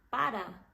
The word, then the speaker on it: para: não quer falar então quando a gente tem apenas uma R que é a letra A R fraca você vai falar um ra tipo assim sem colocar muita força nessa R vai ser ra para para não é para é para Para Pero